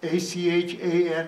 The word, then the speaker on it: Achan: A-C-H-A-N, Achan.